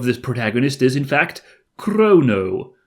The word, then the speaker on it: Crono: the name of this protagonist is in fact Crono not no h there mysteriously so I don't know if you're supposed to really pronounce it like Crono default the Chrono that